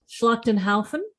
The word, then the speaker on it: Schlachtenhaufen: So directed by David Guy Levy and written by Stefan, and I'm absolutely going to pronounce this wrong, Schlachtenhaufen. Actually, I reckon that's probably right. You got it right.